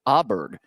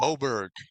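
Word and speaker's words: Åberg: And then Ludwig Aberg at plus 1,600 to win it this week. Oberg.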